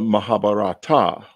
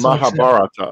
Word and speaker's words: Mahabharata: Back to the Mahabharata. Yes? No. Mahabharata, but it's Mahabharata. Okay. I'm trying to get it right. I want to get it right. Mahabharata.